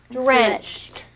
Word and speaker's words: drenched: the tugboat card today it's the t sound in this word so it's drenched it makes a t sound at the end it's a little bit